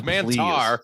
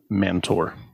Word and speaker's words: Mantar: It was Mantar, you mantard. Please, Mantar. They were saying it wrong. Mantor.